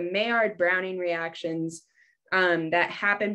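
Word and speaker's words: Maillard: always say this where i always say it like the duck but it's the mayard browning reactions um that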